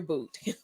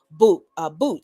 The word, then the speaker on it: Bout: name is pronounced because it's spelled Bout, So some people would think it's pronounced bout, but it's not. Um, I think I've seen pronunciations phonetically where it's pronounced but, um, and I've been calling him, but I've also seen the phonetic pronunciation to be boot. So I don't know what the correct pronunciation of the dude's last name is, but you know who